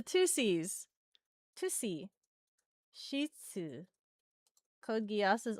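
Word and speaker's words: C.C.: CC, you mean 2C? Yes, you know it's spelled CC. The 2 C's.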